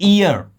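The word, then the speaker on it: heir: इसे प्रोनाउंस करते हैं इयर। इसमें हियर नहीं होता है। इयर होता है। एच साइलेंट है।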